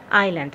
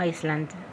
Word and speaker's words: island: On that island، على هذه الجزيرة. لاحظوا طلاب island مو ايسلند، الاس لا تلفظ.